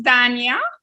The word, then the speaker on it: Daniah: My name is Dania. Yeah. Danya, thank you.